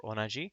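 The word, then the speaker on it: 同: So the pronunciation is do or onaji.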